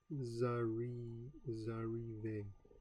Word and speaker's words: vous arrivez: Its final S, pronounced Z, is linked to the beginning of the next word, arrivas. The pronunciation of this word is now zarive, and the necessary liaison has been painlessly achieved.